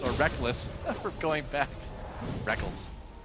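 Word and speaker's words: Rekkles: from going back reckles technically it is written reckles yeah it is he spell it fanatically all the way back in his first major tournament IPL 5 the reckles and Reckless debate was in full swing I still want to call him reckles but I'm just gotten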